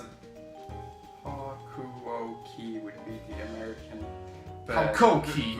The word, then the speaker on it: Hakuoki: How did you pronounce it? Hakuoki would be the American.